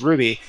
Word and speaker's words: RWBY: and parentheses coffee you know rw rwby parentheses ruby you know putting in those pronunciations or going to great lengths to explain